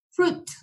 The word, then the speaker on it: fruit: Cuando están juntas la U y la I, siempre debemos suprimir la I del final. Nunca la pronunciamos. Entonces aquí podemos ver la palabra fruit.